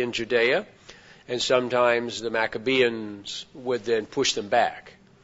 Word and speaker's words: Maccabean: the maccabean period in maccabean is uh m-a-c-c-a maca and then Bean b-e-a-n pronounced maccabean from 165 to about